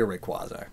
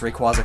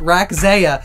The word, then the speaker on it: Rayquaza: uh make sure you always pronounce Rayquaza correctly because for the longest time as a kid I always called it raka because I was like